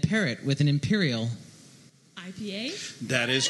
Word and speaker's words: IPA: Actually, Peter at Genus New Brew told me it was pronounced IPA. IPA. It is, yeah. That's the correct pronunciation. For those you don't know, it's IPA. I did not know that. Which makes the rhyming. When it's a double IPA or an imperial IPA, IPA, it's pronounced IPA. IPA. Oh. IPA, the hard I.